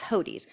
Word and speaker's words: Hodes: heard um hodies is the name some people pronounce it hoats it's not it's hodies hodes and nassar was the name of the